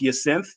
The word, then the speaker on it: Yancithe: My last name is pronounced Yancithe.